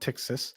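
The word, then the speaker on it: Ptyxis: It's pronounced Tixis.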